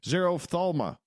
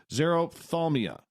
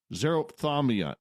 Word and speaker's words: xerophthalmia: Xerophthalma. Oh, I butchered that. Xerophthalmia. Xerophthalmia is your password.